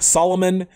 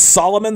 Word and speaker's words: Salomon: the Salomon 2 blog Solomon its Salomon the way it's spelled and then the Roman